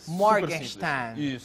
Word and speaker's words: Morgenstern: seu sobrenome morgenster morgin é só falar igual carioca morgenstein morgenstein Ok o nome